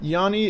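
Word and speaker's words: 脂: The second character is usually pronounced Abra in its kun form. Yani is a slightly irregular, uncommon reading.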